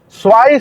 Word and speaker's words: zwei: La W como U y la E junto con la I como A.